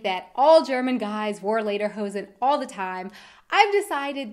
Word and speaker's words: Lederhosen: In the US, you'll actually often hear this word pronounced Lederhosen. And yes, I have definitely been guilty of saying it this way as well. But in fact, that's not even what they're called. In German, Lieder are songs, so Lederhosen would be something like song pants, when in fact they are leather pants.